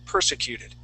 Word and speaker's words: persecuted: it one more time persecuted yes executed okay very good very good and it has that accent at the very beginning of the word class all right um